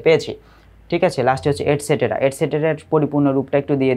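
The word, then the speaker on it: et cetera: এখানে এই মাঝখানের ইটাকে একটু উচ্চারণটা কম করা হয়, এটসেটেরা। এটসেটেরা উচ্চারণ হবে এটসেট্রা।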